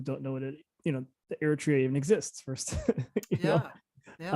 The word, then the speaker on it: Eritrea: So Eritrea, is that how you say it?